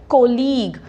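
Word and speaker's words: colleague: stop हो जाना है उसकी प्रोनंसिएशन क्या है कॉलीग जो इंग्लिश में सी साउंड है ना वो के साउंड होती है ओके इंग्लिश में जो सी इज के कॉलीग इसको सेंटेंस में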